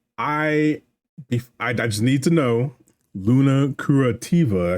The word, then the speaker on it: Luna Curativa: Before we get into current mindset, I just need to know, Luna Curativa.